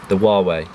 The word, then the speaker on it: Huawei: And I also used the Huawei. That's actually the correct pronunciation of this phone, and I do not miss the iPhone at all.